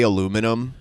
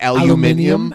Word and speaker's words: aluminium: Have you ever heard the way people from the UK say aluminum? It's like aluminium.